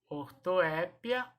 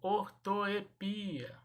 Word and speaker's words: ortoépia: eu posso falar também ortoépia ou ortoepia ortoépia ou ortoepia eu posso falar das duas maneiras pronunciar das duas maneiras ok ortoépia ou ortoepia